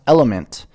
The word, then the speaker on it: LMNT: LMNT, pronounced element, is a tasty electrolyte drink mix with everything you need and nothing you don't.